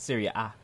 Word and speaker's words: Serie A: Serie A.